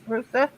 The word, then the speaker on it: Roosa: Astronaut Stuart Roosa, is that how you say his name? Roosa? Yes. Roosa brought the seeds along on the Apollo 14.